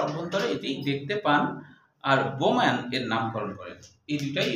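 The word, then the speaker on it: Bowman: যে দেখতে পান প্রথম হলো ফন্টানা প্রথম দেখতে পান, আর হচ্ছে বোম্যান হলো এর নামকরণ করেন। নামটা কেমন না, বোম্যান, কিন্তু আসলে ইংরেজিতে যদি আমরা উচ্চারণ করি তাহলে কিন্তু বৌম্যান হয়।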